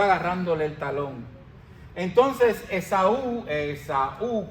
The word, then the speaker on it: Esaú: Entonces, Esaú, Esaú con un acento en la U, okay, vendió su primogenitura.